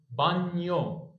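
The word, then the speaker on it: bagno: اهي يبقى اسمها ايه بانيو بانيو الجي مافيش خالص هنا اهي نيو يبقى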